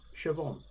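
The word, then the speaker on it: Siobhan: h n Sound about it looks like Coan pronounced Shon although I did hear someone complaining about school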